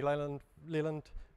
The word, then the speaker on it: Leland: So my name's Anthony Leland, for those of you who don't know, and Leland rhymes with New Zealand, and it's spelled almost the same way.